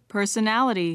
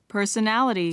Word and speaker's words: personality: 자, 그 다음에 세 번째 단어에서 personality, 이렇게 personality, 자, 해보세요. personality, personality. personality, 자, 영국식 발음은 personality, 이렇게 personality, 이렇게 됩니다.